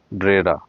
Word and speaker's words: Brera: এই যে দেখুন, পিনাকোটেকা ডি বেরা, ব্রেরা, এটাই হচ্ছে প্রপার উচ্চারণ।